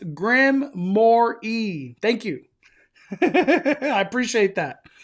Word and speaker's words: Grimoire: Mondo, Knott's thing is pronounced Grimoire.